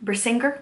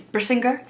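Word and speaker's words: Brisingr: in the back and thought it was bringer which is not right it's brisinger um and it's actually I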